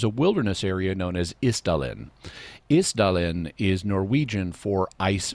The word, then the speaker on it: Isdal: In any event, Isdal is the Isdale or the Isdel, and the Isdal Woman in Norwegian is thus the Ice Valley Woman.